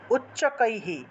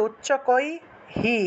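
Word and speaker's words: উচ্চকৈঃ: সম্পত্তির উচ্চকাই স্তুূত্রে সম্পত্তির উচ্চকৈহি ঠিক আছে উচ্চকৈহি হি উচ্চারণ কেন হবে কারণ ঐকার আছে ঐকার থাকায় বিসর্গ এর আগে বিসর্গ এর যে হ টা আসবে সেই হ এর আগে রস ইকার যুক্ত হয় যদি ঐকার থাকে ঠিক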